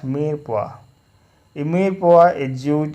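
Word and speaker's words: mirepoix: When these vegetables are roughly cut and mixed together, they are referred to as meer poha, pronounced meer poha.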